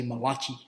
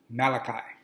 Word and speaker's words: Malachi: you read you see that where the way it's spelled you're gonna say malachi like he's italian no it's pronounced malachi okay in verse uh it's chapter three i'm